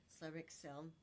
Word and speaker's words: Xcel: They've got their um Excel. What they excel is actually X C is how it's spelled.